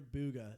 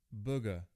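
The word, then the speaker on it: Bugha: you can't see it it's spelled B ugh a my guess when this guy originally created this gamertag the way he pronounced it in his head was Booga like I'm a Booga I'm a booger like in your nose problem but when he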